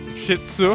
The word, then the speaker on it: Shih Tzu: Shih Tzu. That's how you pronounce it.